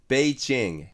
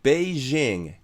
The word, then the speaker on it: 北京: なので、英語でこれを発音するんだったらベイチェンと言った方が元の中国語の発音には近いんですよね。